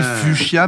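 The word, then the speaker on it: fuchsia: Donc on dit fuchia mais ça s'écrit fouia quoi.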